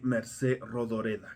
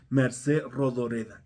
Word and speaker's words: Mercè Rodoreda: Plaza del Diamante de Mercé Rodoreda. Creo que sí se pronuncia así. Mercé Rodoreda.